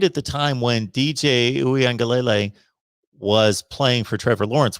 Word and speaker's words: Uiagalelei: So I believe it's Uiagalelei. But To'o is how it's spelled there, with the T-O apostrophe O times 2.